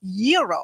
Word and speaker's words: gyro: Gyros I order the gyro Supreme suddenly the lady behind me chimes in it's pronounced yearo then the fella behind her says it's a gyro I turn my back